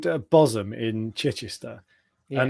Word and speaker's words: Bosham: If you go onto YouTube and search Bosham car, be it Bosham, it's pronounced Bosham, it's spelled Bosham car wash.